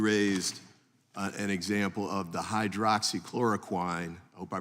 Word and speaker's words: hydroxychloroquine: an example of the hydroxychloroquine, I hope I pronounced that correctly, Close enough. As one of those examples. Tell me the right pronunciation? Hydroxychloroquine, but okay. you're very close.